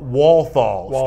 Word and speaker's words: Walthall: Walthall. Excuse me, Justin. Justin Walthall. I apologize for the mispronunciation there.